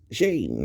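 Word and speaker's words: שן: way to spell my name is just s-h-n with an e and that's shane right that's how you pronounce it and it means ivory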